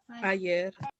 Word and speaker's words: ayer: Ayer. Ayer. This word is pronounced yer.